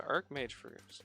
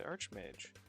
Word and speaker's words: archmage: archmage okay so yeah you pronounce it arch as in arch not arc i said i'm moving